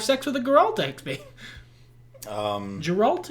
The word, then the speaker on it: Geralt: with a guerrilla um geralt is it it's a soft g i always forget because